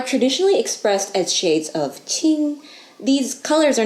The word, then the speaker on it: 青: All these words share a common stem, ao, or sei if you prefer its kanji pronunciation. Now, this same kanji is read as qing in Chinese.